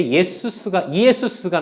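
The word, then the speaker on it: Ἰησοῦς: 예수님의 이름은 예수는 여호수아라고 하는 히브리어를 헬라식으로 이름 발음했을 때 이에수스가 나옵니다.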